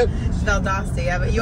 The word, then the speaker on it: Valdosta: Valdosta, yeah. But you Valdosta, always what do you, Valdosta.